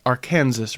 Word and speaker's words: Arkansas: a brown stretch of the Arkansas, pronounced Arkansas River, on the north by a highway, Route 50, and on the east and west by prairie lands and wheat fields.